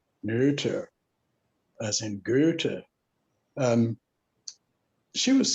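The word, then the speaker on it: Noether: ago was m.a neuter got to use the german pronunciation neuter as in um she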